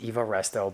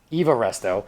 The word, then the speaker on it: Evaro: I spoke with Max it's Eva Resto but he didn't have the minerals to tell me that I was pronouncing it wrong evaro all the evaro stuff